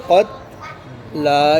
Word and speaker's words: القتلى: अब जो क़त्ला वक़फ़ करते हुए क्या होगा? क़त्ला, इसमें कोई तब्दीली नहीं होगी। एंड में कौन सा हरफ साइलेंट है? या साइलेंट है।